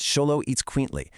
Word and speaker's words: Xoloitzcuintli: It's a bit of a mouthful, but it's pronounced Xoloitzcuintli.